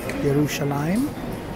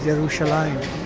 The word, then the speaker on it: Yerushalayim: It's about maybe 7 o'clock here in Yerushalayim, which is the way it's pronounced. There is no J in the Hebrew tongue. We Westerners might say Jerusalem, but here it is Yerushalayim.